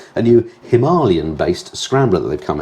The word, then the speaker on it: Himalayan: have unveiled the scram 411 a strip back himalayan or himalayan as it's correctly pronounced adventure bike that's been fettled for tackling